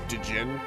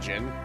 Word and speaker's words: Djinn: throughout this entire playthrough i will call them dejin a lot because as a child that's just what i call them i had no clue how to pronounce that word i understand that it's just gin but my brain did